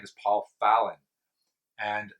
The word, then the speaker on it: Fallen: founder's name is paul fallon and that's the way that last name is pronounced in scotland just so now you